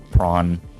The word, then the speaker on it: prawn: has done to me prawn it's a purposeful misspelling of porn when it's spelled p r 0 n but it's a prawn as in like pawn with an r in between the p and the a and pawn uh yeah enter